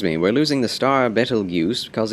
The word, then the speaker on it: Betelgeuse: That reminds me, we're losing the star Betelgeuse because it's going supernova.